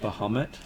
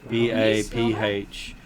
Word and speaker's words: Baphomet: Bahamut. Who? Bahamut. B-A-P-H-O-M-E-T.